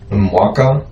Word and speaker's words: Mwaka: Is it Mwaka?